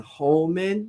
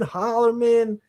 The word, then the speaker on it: Holleman: Is Holman, Hollerman, whatever his name. I'm gonna call him Austin Holleman, even though there's no R in his name. I'm gonna call him Holleman.